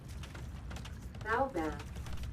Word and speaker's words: baobab: To look up the tree pronunciation, it's not like how it's spelled. English is weird. Yeah, it's your thing. You can actually do that right now. Baobab.